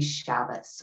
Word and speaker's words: Shabbos: the word shabbat right when pronounced with a sephardic pronunciation and we have that t sound at the end shabbat with a more yiddish or ashkenazi inflection um it would be shabbos with an s on the end right so as this stylist